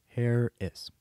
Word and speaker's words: Herres: message from craig harris it's pronounced like harris craig harris oh well craig harris h-e-r-r-e-s hair is anyways there you go